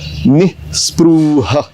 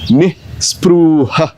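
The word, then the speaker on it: निःस्पृहः: अभी निस्पृह में नी के बाद एक तो विसर्ग है और उसके उपरांत ह के बाद भी विसर्ग है, इसलिए इस शब्द का उच्चारण कैसे करना है वो आपको थोड़ा सा ध्यान देना पड़ेगा। निस्पृह, निस्पृह, निस्पृह।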